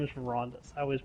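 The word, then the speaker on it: Verandis: I'm sorry, his name is Verandus. I always mispronounce it.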